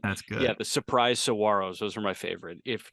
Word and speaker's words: Saguaros: And the G is silent. The Surprise Saguaros. Saguaros, the Cactus.